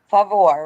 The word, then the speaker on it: Favour: I hope I pronounced your name very well today. I hope I said it right. You prefer Favor, right?